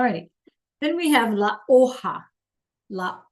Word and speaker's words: hoja: Then we have la hoja. La hoja, H is silent, and the J sounds like an H, which is a leaf.